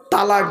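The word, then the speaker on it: طلاق: আমি আছি এখানে তো শব্দটা কিন্তু তালাক নয় শুনে নিন শব্দটা তালাক নয় শব্দটা হলো তলাক তয়ে লাম আলিফ কফ ওর আরবি উচ্চারণ ত লাম আলিফ কফ ওর বাংলা উচ্চারণ কি তয় বয় ল আকার ক তলাক মানে পৃথক দেওয়া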